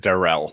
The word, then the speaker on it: Darrell: darrell henderson uh well i've heard him pronounce it darrell which is i'll call him what he calls himself but i've also